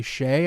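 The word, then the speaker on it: Seay: So anyways, the reason we're gushing about this is FGCU lands another Power 5 transfer, this time Carly Shea, I believe is how you pronounce the last name.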